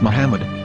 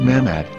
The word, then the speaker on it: Muhammad: Ben yehuda's Hebrew English dictionary it is correctly pronounced as Muhammad not mammad so how we're going to know for sure